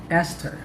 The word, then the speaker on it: Esther: and hard th sounds here are examples of words with the letters t and h pronounced as t or the t sound thailand discotheque esther time thomas that's all